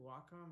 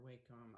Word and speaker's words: Wacom: When I got my first, is it Wacom or Wacom? I've always said Wacom, and somebody told me recently that's wrong, and it's Wacom. I think it's Wacom. I think I said it wrong for the first 12 years that I was using one.